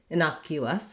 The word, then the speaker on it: innocuous: not an innocuous and in innocuous we then have our letters c u say the k sound the k sound and then there's a glide so this is one of the words in english that where the letter u sounds like its name sounds like the word